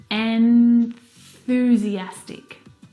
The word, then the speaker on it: enthusiastic: N The tongue must come out through the middle of your teeth.